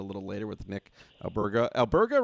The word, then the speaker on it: Alberga: Alberga, right, Bilal? Am I saying it right? Yeah, Alberga. Yeah, Alberga.